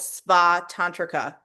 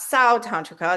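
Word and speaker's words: Svātantrika: This is the lower middleway school called Spa Tantrica. It's not Sao Tantrica, it's Spa. So, it's SVA Tantrica.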